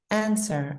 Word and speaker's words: answer: Answer, answer, answer. Here's my answer. Here's my answer. Silent W.